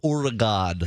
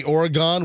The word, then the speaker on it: Oregon: I was a morning radio guy in Medford, Oregon. In Medford, Oregon? Yes. And did you go on the air and say Oregon, which is not how you pronounce Oregon?